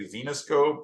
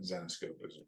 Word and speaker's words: Zenescope: everybody's like now now everybody's like xenos scope or you know they don't know how to pronounce it but zenos scope is essentially the name but you do even